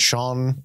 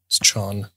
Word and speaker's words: Chon: Is that how you pronounce it? Chon? Chon? It's not Sean. I don't know. I'm pretty sure it's Chon.